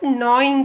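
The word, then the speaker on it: gnawing: let us see about knowing the food children here in this word uh g n a w i n g will pronounce this as knowing actually so g remains silent here okay you have to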